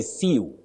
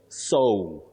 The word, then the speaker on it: sew: It is so with a glide O.